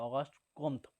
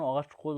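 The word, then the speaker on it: Comte: 1839 খ্রিস্টাব্দে ফরাসি সমাজবিজ্ঞানী অগস্ট কোত বা অগাস্ট কমতো উচ্চারণ অগস্ট কোত উচ্চারণ হয়তো অগস্ট কোত তার পজিটিভ ফিলোসফি শিষ্য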